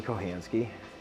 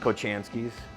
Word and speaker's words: Kohanski: my name is kohanski and sometimes it's pronounced kochanski's um also I've heard it pronounced kohinski like right off the boat Polish people but either way you